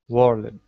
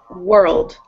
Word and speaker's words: world: Whirled. So you're saying whirled, kind of? It's just one syllable, and it's world.